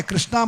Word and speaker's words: कृष्ण: कृष्णा नाम द्रौपदी का है, कृष्णा मत कहिए, कृष्ण कहिए। क्या कहिए? कृष्ण।